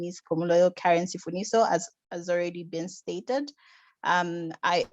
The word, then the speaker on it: Sifuniso: So let us welcome Karen Pumulo Sifuniso from Yellowcard. Welcome, Karen. Hi, thank you so much. So the last name is Sifuniso. Oh, sorry for that mispronunciation.